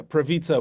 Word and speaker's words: Prawica: Yeah, the last name is pronounced Prawica, which is, I guess, like pizza. The W is pronounced as a V, but I mostly just go as as well.